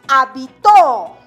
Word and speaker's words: habitó: Y tenemos habitó. La mayor fuerza de voz recae en la última sílaba.